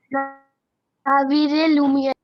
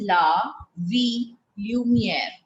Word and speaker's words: La Ville Lumière: La Ville Lumière. No, not Ville. This double L is silent. It's not Ville. It is La Vie Lumière. How do we pronounce it? It's pronounced as V.